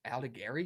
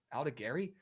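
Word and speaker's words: Aldegheri: guy who's going to be opening today in Aldegari. Is that how you say it? Yeah. Aldegari, who's just not a good pitcher, respectfully.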